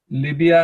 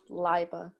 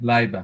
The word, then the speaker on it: Laiba: Libya and Abdullah. Qudsiya. Amina. Excuse me? Yes. I just want to tell you it's pronounced Liba. Oh, sorry, Laiba.